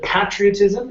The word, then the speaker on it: patriotism: to this word here instead of patriotism it's pay patriotism patriotism very good uh next is